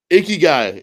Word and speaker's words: ikigai: How do you pronounce that? Ikigai.